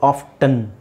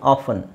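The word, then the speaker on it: often: ತರನು ಯೂಸ್ ಮಾಡ್ತಾರೆ ಅವರು ಸೊ I would say like ಆಫನ್ is better option ಆಫನ್ ಯಾಕೆಂದರೆ T extra ಹೇಳೋ ಅವಶ್ಯಕತೆ ಇಲ್ವಲ್ಲ ನಮಗೆ ನಾವು ಲ್ಯಾಂಗ್ವೇಜ್ ಅನ್ನ ಯಾವಾಗ್ಲೂ ಸಿಂಪಲ್ ಸಿಂಪಲ್ ಆಗಿ ಮಾಡಬೇಕಲ್ವಾ ಸೋ ನಾವು ಅದನ್ನ I think ಆಫ್ಟನ್ is sorry ಆಫನ್ is better ನೀವು ಯೂಸ್ ಮಾಡಬಹುದು ಆಫ್ಟನ್ ಟೀ ಹಾಕೊಂಡು ಹೇಳಬಹುದು ಟಿ ಇಲ್ದೇನೆ ಹೇಳಬಹುದು ಓಕೆ ಇದು ಸುನಾಮಿ ಸುನಾಮಿ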